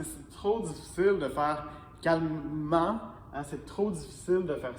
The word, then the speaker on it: calmement: mais là attention ici je dois prononcer le E calmement pourquoi je dois prononcer